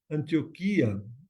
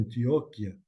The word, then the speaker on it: Antioquía: Antioquía, o otros lo pronuncian Antioquia, Antioquía, estaba cerca del mar, ahí por la región de la Palestina.